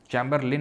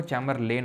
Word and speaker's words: Chamberlain: चमबरलिन नहीं होगा। चेंबरलेन होगा। ये स्पेलिंग गलत है। मतलब ए लगेगा एल और आई के बीच में।